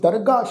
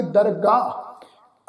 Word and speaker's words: दरगाह: इस शब्द का पाठ उच्चारण करांगे दरगाह। असल विच दरगाह तो भाव आ जी रब की दरगाह, परमात्मा की दरगाह, ठीक है जी। इनू दरगह इस ढंग नाल पाठ उच्चारण नहीं करना।